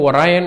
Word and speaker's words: Orion: இது வந்து பார்த்திங்கன்னா இந்த ஓரியன் கான்ஸ்டலேஷனில் இருக்குது. இது நிறைய பேர் வந்து ஒராயன் அப்படின்னு சொல்லுவாங்க, சில பேர் அது ஓரியன் அப்படின்னு எப்படி வேணால் ப்ரொனவுன்ஸ் பண்ணிக்கலாம், ஒன்றும் பிரச்சனை இல்லை.